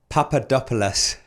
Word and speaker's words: Papadopoulos: your surname let me know maybe go Papadopoulos yeah it's good it's good how is it Papadopoulos yeah not quite the same ringers as these